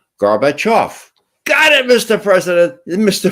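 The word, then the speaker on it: Gorbachev: now off off now accent the off and say them together betof got it Mr President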